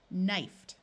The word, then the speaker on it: knifed: When a word has a K and an N, the K is silent. Knifed, with a root of knife.